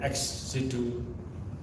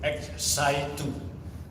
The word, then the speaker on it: ex-situ: of years with respect to our effort in xc2 conservation and management of the aurora this morning the deputy minister kept mentioning x psi 2 that is very wrong it should be pronounced